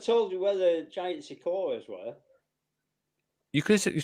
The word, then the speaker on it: sequoia: Well, I could have told you where the giant sequoias were. You could have. You told me what? I could have told you where the giant sequoia tree were. How? Shakura?